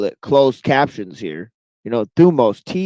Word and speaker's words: thumos: Thumos, Thumos. Thumos. Okay, that's how you spell it.